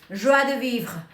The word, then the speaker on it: joie de vivre: Joie de vivre. I like pronouncing that word, but sometimes when I'm speaking English, I don't do it perfectly. Anyway, it's joie, like joy, de vivre.